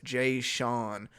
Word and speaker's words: Jason: It's pronounced Jay Sean.